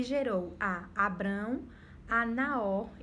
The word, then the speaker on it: Abrão: sobre isso, só que o nome dele antes era Abrão, se pronunciava Abrão e depois Deus ele altera para Abraão, certo?